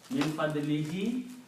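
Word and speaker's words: مِنْ فَضْلِهِ: If you pronounce two kasras next to each other, min fadlihi instead of you say fadli hu. Okay. So min fadlihi, by His grace, by His mercy.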